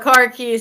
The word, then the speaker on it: khakis: Just making sure it wasn't car keys. Oh, car keys. Yeah, that's how they pronounce them, khakis.